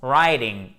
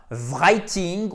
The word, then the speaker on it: writing: rédaction ou l'écriture ok donc ça se prononce rising et non pas brytting ou encore pire greeting ce n'est pas possible